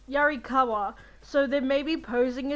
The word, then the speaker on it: Yarikawa: god and so it's pretending yarikawa i didn't want to say it wrong i was going to say yarigawa um yarikawa so they they're maybe